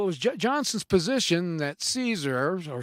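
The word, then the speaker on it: Casor: name was John and I'm gonna think it's pronounced Caesar but it spells ca SOR now he was a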